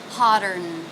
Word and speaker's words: hotter: the end consonant sound hotter hotter hotter now the T in hot turned into a flap t or a D sound because it's coming between two vowels hotter hotter hotter hotter